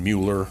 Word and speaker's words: Mueller: There's actually no relation to us, but Dylan Mueller, they pronounce it Miller, Dylan Miller, 10 years ago was stung by a bee.